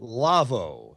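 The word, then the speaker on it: Lawo: Our show is brought to you in part by the folks at Lavo, L-A-W-O, pronounced Lavo.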